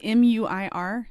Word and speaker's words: Muir: Is it M-U-I-R? Yes. Muir? Yes. Like the Muir Woods? Yes, but that's John Muir. John Muir, yeah, but like the same Muir.